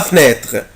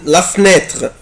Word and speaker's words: fenêtre: عندي fenêtre اللي هو الشباك، ممكن انطقها كده la fenêtre. بصوا fenêtre la fenêtre la fenêtre يعني لا لتر او اللي بعد الاف ممكن انطقه ممكن ما انطقوش، ممكن ما انطقوش والزق الاف في الان.